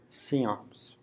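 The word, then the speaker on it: CIOMS: usually referred to by its acronym which is pronounced seance I first went to one of their meetings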